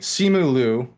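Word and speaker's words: Simu Liu: like everything was great simulu or leo sumu is i believe the proper pronunciation of his name if not simu king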